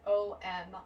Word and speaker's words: Om: A-O-U-M is how you pronounce O-M, Om.